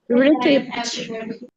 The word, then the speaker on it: receipt: Receipt. Receipt. Exactly. It is receipt. P silent. It is pronounced as receipt.